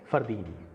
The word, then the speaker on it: फरदीन: उसके बाद दीन तो DEEN, ठीक है, फरदीन।